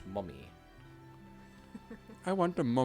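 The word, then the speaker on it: momme: of silk Industries and it's pronounced mummy I want a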